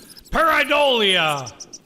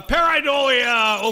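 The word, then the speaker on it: pareidolia: Paridolia.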